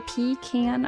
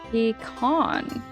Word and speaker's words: pecan: Some people say pean, others say peon.